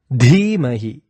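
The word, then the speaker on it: धीमहि: Next, Dhimahi. It is not Dhimahi, it is a strong Dhi.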